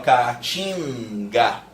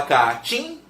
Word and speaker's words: caatinga: Ninguém mais fala caatinga. Você fala caatim. Esse N desapareceu da pronúncia. Hoje ele serve só para nasalizar.